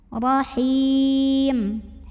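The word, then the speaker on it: رحيم: Huruf ra dibunyikan secara tafkhim karena ra-nya berbaris fathah. Maka bacanya ditebalkan, pangkal lidah kita naikkan. Rahim.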